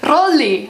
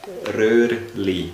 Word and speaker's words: Röhrli: Rolli. I don't know. They don't roll it that much. Rolli, Rolli. I don't even know. More. Matthias, you say it. Röhrli.